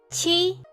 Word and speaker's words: 七: So, 一七 qi 七 qi. So this is Q in Chinese pronounced as qi.